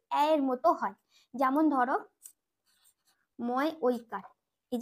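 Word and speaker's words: मैं: এই উচ্চারণটা তখন কি হবে, যেহেতু অয় জাফলা অন্তস্থ হয় ঐকারটা, তাহলে ময়ের সঙ্গে ঐকার যুক্ত হয়ে রয়েছে, ঐকারটা করে দেবো,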